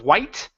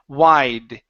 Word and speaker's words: wide: is the word wide so here instead of white the T sound it's D wide wide there you go